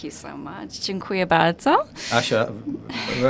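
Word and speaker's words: Asia: Asha, very good pronunciation. Thank you so much. So as you can probably tell, Grzegorz is Polish, so am and I. And Asha sounds also Polish. Yes, it's definitely Polish. And not many people call me that. Why are you doing it in English then? Oh, well, you know, because it's spelled A-S-I-A.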